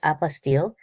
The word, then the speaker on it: apostille: Because apastil is one of those words that sounds complicated, but becomes very simple once you understand what it actually is, an apastil. And the pronunciation is apastil is a certificate issued